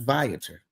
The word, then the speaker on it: Viator: It is also on, I've been pronouncing it Viator, but it's actually pronounced Viator. It is also on Viator.